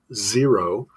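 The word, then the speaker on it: Xero: So he uses a shoe called Zero, but spelled with an X, Okay.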